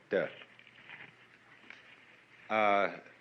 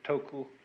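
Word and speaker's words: 德: meaning of this word d uh the Japanese pronounce it toku the cantones duck and the northern mandarins approximately du and uh in the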